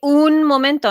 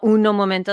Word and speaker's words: un momento: uno yeah those minutes but you only say un momento no uno momento that's not how you say it mind you that's